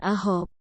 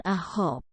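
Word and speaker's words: 아홉: Tetapi untuk ilgop, 7, yodol, 8, dan ahop, 9, suku kata pertamanya lah yang harus Anda tekan. Jadi, cara bacanya adalah ilgop, yodol, dan ahop.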